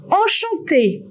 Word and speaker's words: enchanté: You can find en, for example, in the word enchanté. Nice to meet you. In enchanté, you will have both en, E-N and A-N.